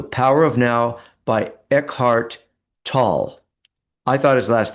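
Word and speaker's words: Tolle: It's called The Power of Now by Ehart Tall. I thought his last name was pronounced to, but I actually did a search.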